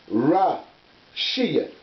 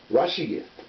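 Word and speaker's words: רֵאשִׁית: And it's pronounced this way. Rashiyat. Rashiyat.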